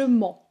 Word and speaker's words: mens: Alors, toute petite difficulté sur la prononciation de ment. Je mens pas. C'est une nasale, c'est assez dur à prononcer les sons on, un, en.